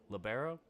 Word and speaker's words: libero: through high school to Li Lio libero some people pronounce it as labero basically the guy in